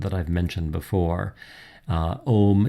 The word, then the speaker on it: Om: Om is often pronounced in a very, very, very prolonged way, accompanying some of these long exhalations that I've described here already.